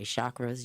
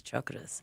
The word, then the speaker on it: chakras: into chakras because, and we say it wrong. My teacher got on me, so now I can never say it wrong again, but we say chakras usually, but it's chakras.